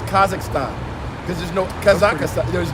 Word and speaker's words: Kazakhstan: Oh yeah, Philly, over there in Kazakhstan.